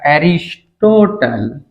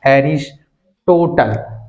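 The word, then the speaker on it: Aristotle: माना जाता है अंग्रेजी में लिखेंगे तो बेटा उच्चारण होगा हरीश टोटल इसका विशेष ध्यान रखेंगे हिंदी में लिखेंगे तो अरस्तु अंग्रेजी में लिखेंगे तो बेटा स्पेलिंग के अनुसार प्रोनॉन्सिएशन होगा हरीश टोटल एक बहुत ही प्यारा सा प्रश्न बनता है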